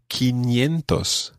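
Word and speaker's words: quinientos: you're not alone because in spain and in the spanish-speaking world you don't say think or authentos it sounds funny so you say quintos it's just one of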